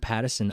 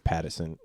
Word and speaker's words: Pattinson: I think it's Pattison. What did I say? Pattinson? Paddington Bear. Yeah, I was going to say Patterson. It's spelt Pattinson. Oh, Okay. well, then it's Pattinson and you're wrong.